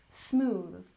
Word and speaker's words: smooth: Make sure to stick your tongue out here for the TH sound. Smooth, smooth.